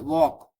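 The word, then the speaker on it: walk: सा इन जी साइलेंट है sorry sine में जी साइलेंट है वॉक वॉक में एल साइलेंट है ना कॉम कॉम में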